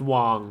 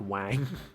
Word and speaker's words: Wang: have Wang underneath him I know it's pronounced Wong but it looks like Wang so he's the president